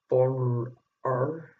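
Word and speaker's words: Bron-Yr-Aur: They returned to Bonner R, that's how you say it, which is a country house in Sidonia in Wales to write new material for this album.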